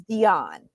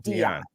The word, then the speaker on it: Dionne: even say it wrong it is Dion not Dion but I it's whatever